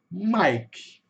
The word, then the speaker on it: Mike: Não vejo dificuldade, mas eu vejo sempre o mesmo errinho recorrente, né? O pessoal colocando I no final, pessoal falar Mike, Mike, igual aquela marca de tênis da Nike, Nike. Aqui em português a gente coloca o I no final, mas em inglês a marca de tênis é Nike. Nike. E o M aqui do E o do M vai ser Mike. Mike. Tá, pessoal, esse e também fica fraquinho no final.